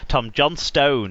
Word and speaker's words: Johnstone: Tom Johnstone, because apparently now we emphasise the stone, because if we're television commentators, we've been criticised so much for pronouncing it wrong anyway, that now we overpronounce the stone rather than calling him Tom Johnston.